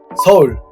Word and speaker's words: 서울: 서울 would be 서 plus U plus L. 서울. How about Japan?